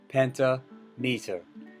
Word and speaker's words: pentameter: so it's the same we don't say penta meter we say pentameter pentameter pentameter okay a ambik pentameter